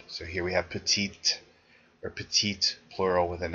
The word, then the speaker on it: petite: which are usually has which usually has a pronounced final consonant so here we have petite or petite plural with